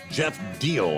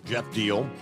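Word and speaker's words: Jeff Diehl: Jeff Deal, I believe is the way you pronounce the national, D-I-E-H-L. I guess it's Deal, right? Jeff Deal, former state representative endorsed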